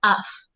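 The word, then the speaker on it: ought: También como en el mismo uso que should voy a utilizar of.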